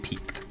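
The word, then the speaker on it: PIQUED: mats out of every it's piq you IDI but it's pronounced peaked today I learned something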